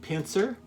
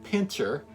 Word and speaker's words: Pincer: Now, you can pronounce that Pincer or Pincher, but it's spelled P-I-N-C-E-R with no H in there.